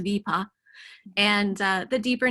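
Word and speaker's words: Wiippa: which is in Tornedal, it's spelled W-I-I-P-P-A. It's pronounced Vipa.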